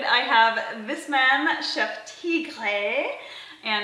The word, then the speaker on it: Tigre: I have this man, Chef Tigre. And how do you pronounce it actually? Tigre. Tigre. Tigre. Tigre. Tigre. It's a, if you do, if, even in French, it's tigre.